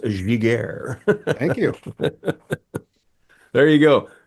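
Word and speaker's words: Giguère: And if you're wondering, folks, it's pronounced Giguére.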